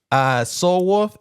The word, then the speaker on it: SOQL: Soul Wolf, SOQL. The Q is silent. Wolf.